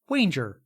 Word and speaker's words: Wanger: burning fire deep water i consistently mispronounced the name of hollywood producer walter wanger apparently pronounced wanger to rhyme with manger sounds weirder while we're